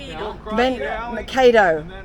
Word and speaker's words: Mankato: Pronounce this place's name. Is it Mankato? Mankato.